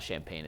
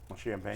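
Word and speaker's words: Champagnie: we say his name it's not champagne it's champagne champ champag OB toppen and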